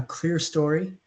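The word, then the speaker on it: clerestory: uh row of Windows here is called a clear story and that's spelled c l r s t o r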